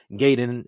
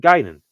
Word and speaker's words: Gaiden: more of a te why people say you know gayen instead of ging it all starts with